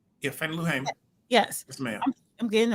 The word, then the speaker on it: Fannie Lou Hamer: If Fannie Lou Hamer, did I say her name right? Yeah, Fannie Lou Hamer.